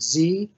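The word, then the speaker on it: Sze: create it um her name again is Sarah Z she pronounces it Z and she is a professor of art at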